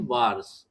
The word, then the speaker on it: VARS: इट is measured in वार्स, ये इसको pronunciate करते हैं वार्स, VARS।